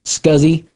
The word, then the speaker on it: SCSI: by the way in the industry it is pronounced scuzzy if you go up to somebody and say